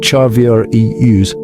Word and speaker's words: Charvarius: Chavarius, whose name is pronounced Charvier Eus, discovered early that his hands were gifts from heaven, not just for catching footballs, but for changing lives.